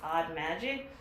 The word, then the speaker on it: Audmagic: support her she's at a-u-d-m-a-g-i-c pronounced odd magic these smell delicious i do plan on opening the van van first and thank you odd magic for sending me these